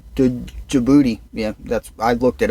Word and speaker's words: Djibouti: to tell you the name it's called dude Djibouti yeah that's I looked it up I listened